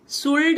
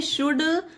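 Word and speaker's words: should: शुड पढ़ रहे हैं यहां पर एल साइलेंट है डायरेक्ट डी का उच्चारण दिया गया शुड उसी तरह से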